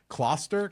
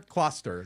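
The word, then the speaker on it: Gloucester: how to say it I know it's not that claer cluster that's it like claw that's what what they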